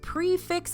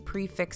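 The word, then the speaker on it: prix fixe: you eat your way around disney world next prefix menus are everywhere you'll hear the term a lot in disney world lately because a lot of table and signature restaurants now use these prefix structures but what does prefix mean exactly well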